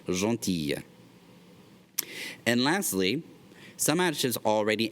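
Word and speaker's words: gentille: notice with this one it changes the pronunciation the masculine form is John teal the feminine form becomes donkey yeah that il le makes the year sound Jean Tia and lastly some additives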